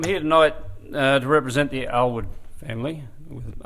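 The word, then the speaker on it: Alward: So I'm here tonight to represent the Alwood family, with A-L-W-A-R-D. Everybody has difficulty pronouncing it, but it is Alwood.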